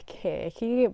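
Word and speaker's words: Circe: Okay, I've chosen one that I don't think I can pronounce, but it's supposed to be pronounced Kirky by Madeline Miller.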